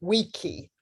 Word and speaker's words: vici: So people think that Caesar said veni, vidi, vici, but he actually said weni, weedy, wiki.